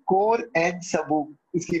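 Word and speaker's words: sabot: इसको प्रोनाउंस कैसे करेंगे, तो टी साइलेंट है और ई को ए पढ़ना है, कोर एंड सबू इसकी प्रोनाउंसिएशन, मतलब ये मैंने घर आके देखी कि क्या प्रोनाउंसिएशन है उस वक्त।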